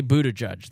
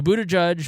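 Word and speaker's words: Buttigieg: use racial slurs now how do you say mayor Pete's last name I say Buddha judge that's how I've heard it uh that's how I've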